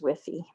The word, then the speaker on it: WFI: kind of water it's called water for injection or whiffy is how they say it so wfi is whiffy okay so they take